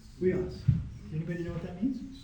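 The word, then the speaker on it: υἱός: Weos. No, short O. Yeah, Weos.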